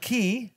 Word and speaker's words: Key: And key rhymes with Fleet.